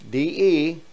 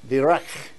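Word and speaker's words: דרך: So this is pronounced D-E-R-E-C-H. Derech. Derech.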